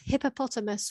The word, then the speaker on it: hippopotamus: listen to the pronunciation lots of quick letters hippopotamus we don't tend to say amos okay hippopotamus oh quick